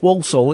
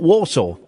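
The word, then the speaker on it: Walsall: For years I only recently found out that Walsaw is Walsaw is pronounced Walsaw. It's not Warsaw.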